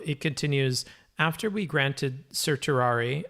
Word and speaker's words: certiorari: After we granted certiorari, how do I pronounce that again? Certiorari. Certiorari. People pronounce it differently. You could say cert too, if you just want to.